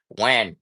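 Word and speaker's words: Nguyen: And remember people, when you see somebody whose last name is or first name, whatever, whose name is spelled N Gen, it's Wen. Not Gwen or something. No, it's Wen.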